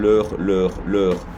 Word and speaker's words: leur: And then leur. No change in pronunciation for that one, but just an S for the plural.